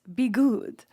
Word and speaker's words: Bi'Gud: But he was like it's pronounced be good.